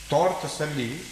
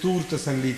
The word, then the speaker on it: Tor Tasalli: was found out that the original word was Tor. Tor Tasalli means the way how to achieve that peace of mind. But Tur Tasalli means a mountain of peace. So some people tend to pronounce it as Tur Tasalli ka bataya humne. But this is not so.